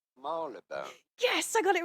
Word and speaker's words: Marylebone: It may look like it should be pronounced Marylebone, but it's not at all how it is said in the UK, or in London at least. It is usually pronounced as Marylebone.